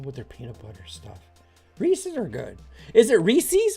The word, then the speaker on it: Reese's: their peanut butter stuff Reese's are good is it Reese's or recess it's rees's Reese's I've been I was in as a kid it's not rees's there's no I it's Rees who's who's saying it right